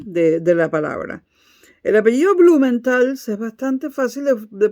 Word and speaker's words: Blumenthal: Blumenthal es bastante fácil de pronunciar. Es una L y una S al final. Blumenthal. No está la A. Porque en alemán, cuando hay 2 consonantes al final, se suele rellenar o con una A o con una A